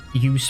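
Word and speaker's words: jus: the norwegian translation or norwegian pronunciation of juice would be use amusingly enough and pun again intended and that's not a joke by the way it is use in norwegian okay let me uh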